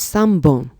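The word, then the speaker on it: 三本: and five and pencils all on the left hand side are Pawn EX except for three which is Sun bone remember three is always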